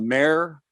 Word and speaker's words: Peduto: Mayor of something or other, but not mayor. But although Mayor Peduto does like his title to be pronounced mayor, but that's just a coincidence.